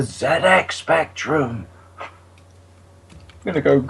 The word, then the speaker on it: ZX Spectrum: know you want to just think of pul fiction Zed's Dead baby Zed's Dead it's the Zed X Spectrum I'm going to go